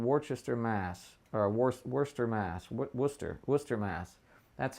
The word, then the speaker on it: Worcester: Worcester, Mass.